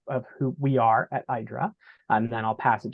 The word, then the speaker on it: IDRA: is a uh uh idra rhymes with Hydra I always say which